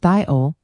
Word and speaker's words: thiol: A thiol, pronounced thiol, has a sulfur hydrogen group attached to carbon.